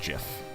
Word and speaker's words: GIF: That's right, I pronounce it GIF and not GIF.